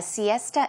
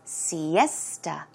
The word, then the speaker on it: siesta: the afternoon pronunciation is Siesta esta so it's more of a t sound Siesta one more time